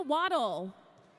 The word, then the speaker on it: Waddle: Victoria Waddle. Pronounced like a pleased duck.